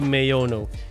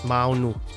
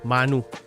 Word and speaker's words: Maono: pronounce it shouldn't be meono because mayono is an English pronunciation of it I think it should be properly pronounced as mounu or manu because it's from kiswahili it means Vision as I've said in